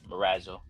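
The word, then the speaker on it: Morazzo: Prince and the Interiors are done by Martin marazzo it's how you pronounce it it's an anthology series it's about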